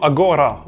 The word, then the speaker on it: agora: Par exemple, ahora, qui veut dire maintenant en espagnol, se dira en judesmo agora, où le G est maintenu.